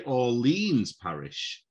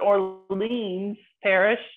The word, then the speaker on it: Orleans Parish: i want to say orleans parish that's actually right ah brilliant for whatever reason we say new orleans but orleans parish i don't know why